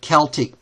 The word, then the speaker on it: Celtic: And the Gauls were a Celtic, or you sometimes pronounce it Celtic people.